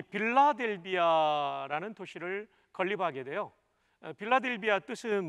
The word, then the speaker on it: 필라델피아: 그런데 헬라어 그대로 읽으면 필라델피아라고 발음하게 됩니다.